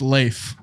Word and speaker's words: Leif: said leaf i said leaf erickson it's lazy yeah so apparently uh it's pronounced leaf leif l-e-y-f is how he gave me the pronunciation spelling uh but thank you